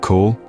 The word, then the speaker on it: cawl: Cawl, pronounced like cowl, is a slow-cooked stew made from the simplest of ingredients, yet it packs a robust flavor that is hard to forget.